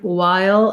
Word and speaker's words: while: Sometimes I just recently talked about the word while, and I pointed out that while it's one syllable, it can be helpful to slow it down and think of that yah sound in the middle, while.